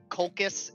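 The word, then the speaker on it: Colchis: He came, I think the world he went on was the world of Kolkis is what it's pronounced as.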